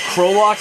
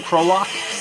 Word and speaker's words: Krolok: This is, I believe Krolok is maybe how you pronounce the album title, the band's name, Krolok.